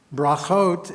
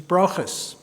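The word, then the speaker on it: ברכות: between Shakespeare and Torah brahot is the Hebrew word for blessings when rendered according to the ashkenazic pronunciation B blessings is brus another Angel bringing bless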